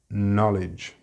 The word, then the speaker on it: knowledge: Know, the verb, is pronounced the same as know, no, but in this word the pronunciation is na, with a very short vowel sound, knowledge.